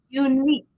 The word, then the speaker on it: unique: Unique. That is just a hard k sound at the end.